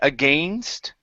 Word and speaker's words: against: word against here so instead of saying a gay against with a long a sound it's a short I so it's a g against revolt against the British